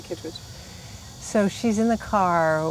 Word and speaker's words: Kitteridge: I say Kittridge, but it does have that E in there, so if people say Kitteridge, I don't blame them at all. Okay. But I say Kittridge.